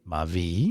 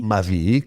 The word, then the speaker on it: Mavi: gli ho messo l'accento sulla I, Mavi? Mavi, che vuol Ok.